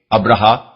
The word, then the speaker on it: ابرہہ: السلطنت تسلیم کر لیا۔ یونانی مورخین اس کا نام ابرامس اور سریانی مورخین ابراہام لکھتے ہیں۔ ابرہا غالباً اسی کا حبشی تلفظ ہے کیونکہ عربی میں تو اس کا تلفظ ابراہیم ہے۔ یہ شخص رفتہ رفتہ